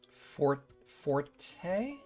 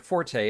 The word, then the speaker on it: forte: F forte. Yeah. So the thing about the word forte is that's actually not the way it was originally pronounced. It is originally pronounced fort as in the your the thing that you're strong in.